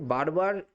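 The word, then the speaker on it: ver: দার মানে হচ্ছে দেওয়া এখানে একটা জিনিস দেখুন যে ভি রয়েছে না ভি এটা কিন্তু ইংরেজির ভি এর মত উচ্চারণ হচ্ছে না এটা কিন্তু বি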